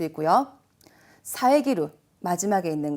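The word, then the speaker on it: 遮る: 비슷한 발음으로 사에즈루 하면은 새가 지적이다라는 다른 뜻이 돼버려요. 발음의 주의입니다.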